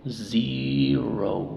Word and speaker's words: zero: dos en vocal entonces la e dice su sonido y z y z y también la o dice su nombre o Zero Zero Okay si dice Zero pues obviamente se entiende Pero la forma correcta sería o Zero porque las dos son sílabas